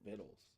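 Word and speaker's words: victuals: in person and see how Shan is doing viddles that's how that's pronounced I would not have guessed that look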